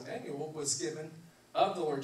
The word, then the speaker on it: Immanuel: It's pronounced Immanuel.